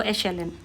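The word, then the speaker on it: echelon: एशेलन, right, और इसकी pronunciation तो मैंने बताई दी आपको, एशेलन।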